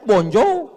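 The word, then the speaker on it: bonjour: Emangnya bahasa Perancis mudah tulisannya bon jowur. Bacanya bonjo, bon soir, bonsa.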